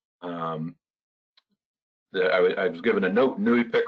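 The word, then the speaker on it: NEIWPCC: we are really emphasizing new Efik as the organization the I was given a Nui pic rhymes with gluey stick so when you're wondering how to say Nui pic it's just like we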